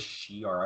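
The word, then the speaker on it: Shi'ar: But he's Shiar. Why think can I not it's pronounce this today? I think it's Shiar, right? Shiar. Thank you. It is Shiar. I don't know why I couldn't pronounce it today.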